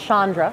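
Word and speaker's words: Chandra: all I would say her name is pronounced Shandra oh sorry woohoo you've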